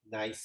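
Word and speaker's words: gneiss: this kind of rock what is it nice it's nice yeah just remember it's a really nice rock i know it looks like or something things it's that's terrible but it's nice so when you see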